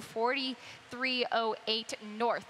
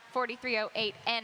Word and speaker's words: 4308 North: I did use the number 2, 4308 North. It's not 4308N. I was talking to track announcer Pete Aiello this morning. Apparently the connection said that is how you say it.